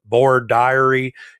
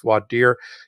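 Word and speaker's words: voir dire: law school my Southern based professors called it board diary it's pronounced different ways throughout the country it's generally pronounced vad deer it's both French but really Latin because in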